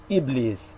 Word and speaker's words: Iblis: And the Arabic pronunciation would also be like, depending on the dialect, Iblis.